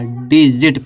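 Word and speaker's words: digit: तो जी के बाद आई आया तो इसको जी को गा नहीं होगा, जा होगा, डिजिट पढ़ेंगे।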